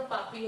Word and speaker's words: Papi: So when Papi, Not the papi as in sinner. how do you pronounce it? Hindi में नहीं, Papi. Hindi में नहीं, अंग्रेजी में पॉपी सुनिए।